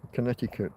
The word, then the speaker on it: Connecticut: Connecticut. I know. I know you don't pronounce that C there. Silent C.